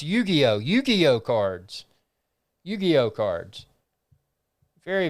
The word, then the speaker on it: Yu-Gi-Oh: uh that is pretty cool yu-gi-oh so it's pronounced yu-gi-oh yu-gi-oh cards yu-gi-oh cards very very cool got